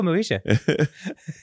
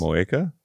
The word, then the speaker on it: Moeka: I should call Moesha. I should get myself a drink at the drink bar. How would you actually pronounce that name in Japanese? Moeka. Moeka? Yeah. It was a K?